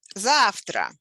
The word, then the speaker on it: завтра: Завтра, tomorrow. Завтра. Завтра. Stress on the first syllable.